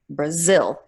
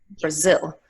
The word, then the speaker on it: Brazil: It's lower, it's shorter, it's less clear, so you get bra, bra, Brazil, and zil is the stress, Brazil.